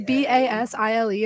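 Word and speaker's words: Basile: do you pronounce it mine is b-a-s-i-l-e and I pronounce it basil but almost everyone that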